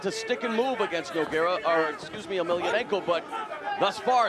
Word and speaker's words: Emelianenko: Yeah, he really wants to fight Fyodor Emelianenko. Yeah, that's the way you pronounce it.